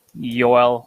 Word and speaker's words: Joel: There's gonna be some sort of right pronunciation coming out soon, just like Yoel Armia.